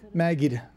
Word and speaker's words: Maged: stocken and Jerry zaly how do you pronounce your last name maggid what maggid is the D pronounced the D is pronounced yes my Ohio accent doesn't